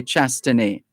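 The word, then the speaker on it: Chastanet: you perhaps would say chastony but the the whether you're speaking english or french the t at the end is silent outgoing prime minister alain shastani said the outcome of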